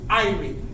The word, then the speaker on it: Irie: Okay, the next thing you're going to say is Irie, and that's spelled I-R-I-E.